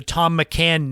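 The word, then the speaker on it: Thom McAn: way it was spelled how could T hom be Tom it was th so I said why is th M why isn't it pronounced that way they were started in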